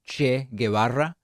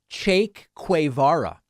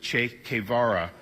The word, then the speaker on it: Che Guevara: He talks about the Argentinean, Marxist revolutionary leader Che Guevara, and he pronounces his name Cheikh Kway Vara.